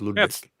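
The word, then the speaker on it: Lodewijk: uh no I can't it's it's lvic like ludvik but it's ludvic it's l o d e w j K ludvik that's how it's that's that's how it's actually spelled but it's pronounced ludic it's the Dutch spelling well well exactly and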